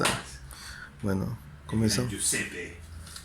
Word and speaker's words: Giuseppe: Giuseppe. ¿Giuseppe o Giuseppi? Giuseppe, Giuseppi. pero se escribe Giuseppe.